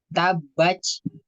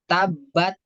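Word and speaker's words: تبت: Ya, jadi bukan ta tapi ca. Tabaj. Nah, itu. Nah, kita perhatikan lagi sifat-sifat dari huruf ta. Nah, sifat dari huruf ta kan sifatnya hamas. Jadi nanti bacanya bukan tabat. Kalau tabat kan dia tidak mengeluarkan nafas.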